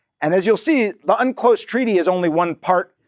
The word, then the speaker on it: UNCLOS: as you'll see, the Unclose Treaty is only one part, and that's the the the weird pronunciation of a long acronym, UN Convention on the Law of the Sea.